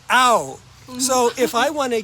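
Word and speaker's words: เอา: something like an object the verb is out just like you know if I hit you what are you going to say OU out not ouch ow come on so we say ow so if I want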